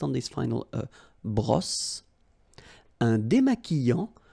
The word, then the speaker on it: démaquillant: So we've got this QU, but then U is not pronounced. So you get the sound qui. Okay, and then remember, double L after E will give you the sound y. Démaquillant. Final T not pronounced. Démaquillant. Okay, and this is nasal in your nose.